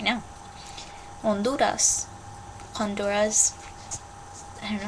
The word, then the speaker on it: Honduras: In Spanish, you never, ever, ever, ever, ever, ever, ever pronounce the H.